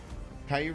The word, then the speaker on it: Caillou: love that one dude Caillou rhymes with Kai Kai berries Kai berries no you